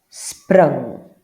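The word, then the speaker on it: spring: a bit more because we don't actually say E. We kind of go uh here in South Africa when we see I. Okay. Uh an unc. Got it. Just a slightly different pronunciation. Just kind of goes uh sprung which means to jump.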